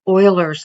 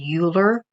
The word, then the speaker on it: Euler: a common logarithm it's Euler's number I know that some of the tutorials they say Euler but it's pronounced Euler like the Houston Oilers maybe y'all don't know